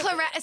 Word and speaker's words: claret: Begins claret. So clarinet. So Yeah. Claire would be the first syllable of Claret.